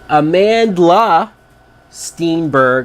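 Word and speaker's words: Amandla Stenberg: Amanda Steenberg, I think is how you say her name.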